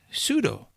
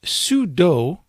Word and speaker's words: sudo: root command I will precede that command with pseudo and some people pronounce this sudo including me at times and some people call this sudu but it works the same way no matter